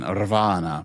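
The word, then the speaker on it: Ravenna: Raana. Probably Raana. I bet you it's Raana. Raana. Uh, we read that you have to roll your R when you say Raana.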